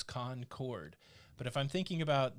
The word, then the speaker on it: Concord: way i remember it if i'm thinking about the town in north carolina it's two words con chord but if i'm thinking